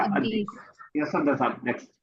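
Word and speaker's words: الديك: नाम साइलेंट रहेगा, अदीक।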